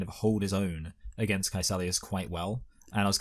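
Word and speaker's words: Kaecilius: the fact that like he's able to like pelus who's um sorry K kelus yes um I spell his name wrong in my notes which is why I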